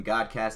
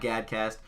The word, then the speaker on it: GADCAST: Mason aka OC god hence the name God cast is not GAD cast just want to get that out for you guys so that way you understand how to say it anyways hopefully I don't